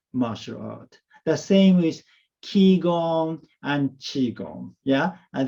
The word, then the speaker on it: ki: philosophy is ki energy it is pronounced as ki in japanese and pronounced as chi in chinese right you know i